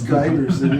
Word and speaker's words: Giberson: I spent my Is it whole Giberson or Giberson? It's Giberson, yeah.